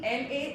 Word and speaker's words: la: Ouvrez la bouche et parlez, open your mouth and clearly pronounce the word La.